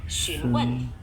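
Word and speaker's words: 询问: Nah, ini kan depannya X ya. Kalau X itu kayak kita S aja bunyinya, mirip-mirip kayak S gitu ya. Nah, ini bacanya apa? Xunwen. Kalau W, ini W kayak biasa. Ya, jadi nggak terlalu berubah.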